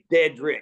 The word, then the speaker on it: Dederick: name is it's pretty easy to say it's deadrick like yeah I keep forgetting to pronounce it I'm sorry yeah dedric dedric good hey but listen I've only been